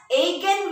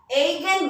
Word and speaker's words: eigen: are given by the specific value called as a can value students okay so right on off any physical property are given by agent values e i g e n eigen value we represent it by a i